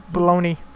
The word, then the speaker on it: bologna: That's what everyone calls it, but it's spelled Bologna. I always called it Bologna, because there's a fucking G in it for no reason.